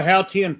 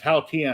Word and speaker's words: Haotian: And he told me, and I practiced saying it, and it's Haotian. And that way, the guy's like, "Oh, you say it perfectly." Only in China, it's actually Haotian, but in China, they're going to pronounce it Haotian.